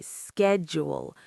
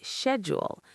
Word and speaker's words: schedule: The sh says a sh sound in British English because of the Greek and Latin influence on pronunciation rules.